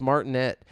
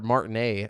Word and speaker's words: Martinet: Nintendo has confirmed that Charles martinet uh or Martin a I think is how it's pronounced the original voice actor of Mario who has played the character since 1991.